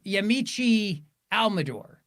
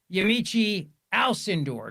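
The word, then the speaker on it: Yamiche Alcindor: But here's Yamichi Almador. This is a flashback to 2020. Then PBS White House correspondent, the White House correspondent, Yamichi Alindor, excuse me, that's the proper way to say her name.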